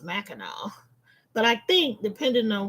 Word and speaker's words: Mackinac: But it is pronounced Mackinac. But I think depending on where you are, some people do say Mackinac.